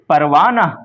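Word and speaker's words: پروانہ: क्योंकि हा लिखा जाता है लेकिन पढ़ा नहीं जाता। छुप जाता है पढ़े पढ़ते वक्त। इसलिए इसको हाय मुख्तफी कहते हैं। जो हा तलफुज़ में नहीं आती है बल्कि माकबल की हरकत को जाहिर करती है। जैसे परवाना जमाना वगैरह।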